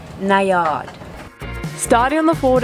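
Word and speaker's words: Najad: at 490 or as our Swedish crew member informs us it is pronounced nayard starting on the Ford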